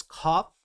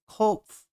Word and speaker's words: Kopf: Wait, it's like, so it's cop? Cop. So I was kind of right, but I was... ending on... Oh, wait, no, it's Kopf. Okay, there's... Maybe I wasn't pronouncing the F.